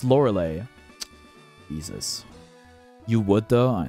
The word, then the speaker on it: Lorelei: It's spelled with EI at the end. Obviously, it's pronounced Lorelei.